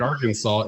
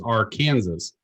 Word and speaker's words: Arkansas: Just like Arkansas is Arkansas, because that's how they spell it.